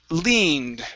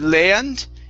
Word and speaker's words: leaned: uh next is um leaned right here instead of land it's lee leaned leaned very nice very nice